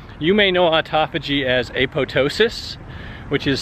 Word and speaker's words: apoptosis: Now, you may know autophagy as apoptosis, which is spelled apoptosis with a P. The P is silent, the second P.